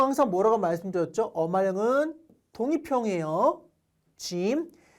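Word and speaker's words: جيم: 짐. 자, 발음의 경우에 제 발음 하시면 됩니다. 그냥 짐이에요.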